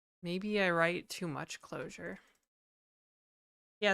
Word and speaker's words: Clojure: So maybe I write too much closure. Yeah. It's called So Nitromorphine. It's It's written with a J. Excuse me. It's written with a J, but it's pronounced closure.